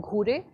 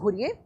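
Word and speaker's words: Ghurye: gurye we have okay we don't call him guri because gude is a very anglicized pronunciation any marathi person will be saying he is called okay so you please go ahead with the indian indian pronunciation for this indian guy so gs gurier m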